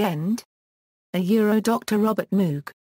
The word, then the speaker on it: Moog: It rhymes with Vogue. That is the usual German pronunciation. My father's grandfather came from Marburg, Germany. I like the way that pronunciation sounds better than the way the cow's Moogie sounds.